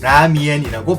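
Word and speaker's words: 拉面: 중국의 란저우 지역에서 오래전부터 즐겨 먹던 국수 중 하나인 남면은 중국어로 라미엔이라고 발음됩니다.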